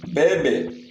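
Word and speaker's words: bébé: Last one பேபே, பேபே, பேபே. ஸோ அந்த ஈக்கு மேலே போட்டுருக்கு பார்த்தீங்களா இந்த ஒரு ஹைஃபன், அது என்னன்னா ஏ அப்படின்னு ப்ரொனவுன்ஸ் பண்ணணும். ஸோ அதனால தான் நம்ம இதை பேபே அப்படின்னு சொல்கிறோம்.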